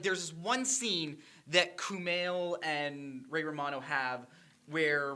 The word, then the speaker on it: Kumail: My favorite part is, like, when Ray Romano and Kumail, that's how you pronounce it, right? Yes. Kumail.